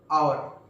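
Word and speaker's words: hour: और इसी तरीके से ऑनेस्ट, आयर, आवर, जो एच ओ यू आर होता है आ,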